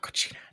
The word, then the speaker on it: Cocina: I should have actually looked how to pronounce this name, but I forgot. Cocineros en la Cocina. Cocina. There we go. Cocina.